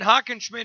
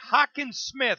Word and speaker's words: Hockensmith: Hockenson is his name. I want to make sure I said it right. Hockensmith, correct? You got it. Just how it looks.